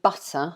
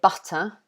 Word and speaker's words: butter: Sun Young gave me butter. That's a good one. Yeah. We would say butter here, but in American, they would probably say butter.